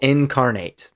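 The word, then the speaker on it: Inkarnate: continue yeah it's it's oh incarnate but it's spelled i n k like ink that was carnate it made it super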